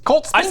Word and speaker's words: Colt Spinks: It's Colt Spinks. Colt Spinks. I said it right the first time. I was corrected, but I was right. Get fucked, Evan. I'm pretty sure it's Colt's Pinks, and he's just messing with us.